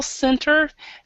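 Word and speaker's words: centre: Cent so I mean it is spelled like Cent but it's pronounced Center so okay okay so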